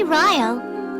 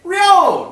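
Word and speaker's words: Ryo: in English seems logical they can't even pronounce one of the main characters's names right it's real not Rio sure I'm one of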